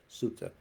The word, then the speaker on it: Sutta: in the Metta Sutta, or Metta Sutta. That's a Pali. They use the pronunciation Sutta.